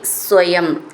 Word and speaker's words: സ്വയം: കിമിഹ ചിത്രമചേതനൈർ യത് ദ്വാരൈ സ്വയം സ്വയം എന്നുള്ളത് സ എന്ന് ഡബിൾ ആയിട്ട് ചൊല്ലണം വ്യഖടി ഖ എന്നുള്ള അക്ഷരം